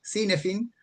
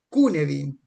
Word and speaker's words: Cynefin: Si bien a mí me gusta nombrarlo como suena Cinefin, en realidad se pronuncia Kunevin. es una palabra galesa y no tiene una